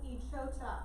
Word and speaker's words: Echota: The Treaty Party was the smaller group, but they went ahead and they signed the Treaty of Echota. So that's how you say it at the top of page 148.